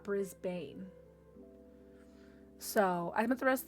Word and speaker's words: Brisbane: Um, this is Brisbane where I spent most of my time or pronounced Brizzy. Brisbane, not Brisbane.